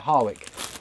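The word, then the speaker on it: Harwich: Harwick, I think you say it. It doesn't look like that, but that's how you say it, Harwick. We went there just to go to the seaside.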